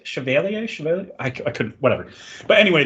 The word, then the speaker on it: Chevalier: how to say it I think French people say it differently but I I think it's pronounced Chevalier but they say the